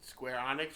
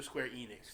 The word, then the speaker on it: Square Enix: keep hearing about how do you say it Square Onyx or Square Enix Square Enix I say onx it used to